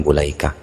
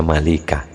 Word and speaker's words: Mulaikah: Wa Ikrimatu dan Imam Ikrimah wabnu Abi Mulaikata dan Ibnu Abi Mulaikah. Bacanya mula betul biasanya Malikah wong gak ada harakatnya ya.